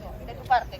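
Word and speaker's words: Notre-Dame de Paris: جامع نوتردام پاریس یا همانگونه که فرانسوی ها تلفظ می کنند: نُتغُدام دو پَغی کلیسای جامع نوتردام پاریس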